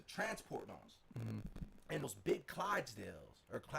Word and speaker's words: Clydesdale: And in the middle, it's like 4 police cars, 2 police vans, like the transport ones, and those big Clydesdales or how do you pronounce it?